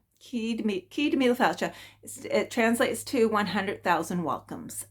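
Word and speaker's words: Céad Míle Fáilte: The pronunciation might be a bit different, but it's, I think it's Cíd Míle Fáilte. Cíd Míle Fáilte.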